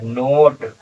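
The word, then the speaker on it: note: पर ओ की मात्रा नो और टी जो है टा के लिए नोट और ये ई छोड़ देंगे नहीं पढ़ेंगे आखिर में आया है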